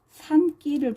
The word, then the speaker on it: 산길: 첫 번째, 산길을 통해서 볼게요. 산 플러스 길, 합성어죠. 그 다음 니은, 울림소리, 기역, 안 울림소리죠. 그 다음 발음이 산길, 된소리로 발음이 돼요.